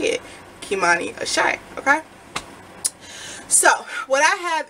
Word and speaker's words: Kimani Ashé: Kimani Ashé, okay?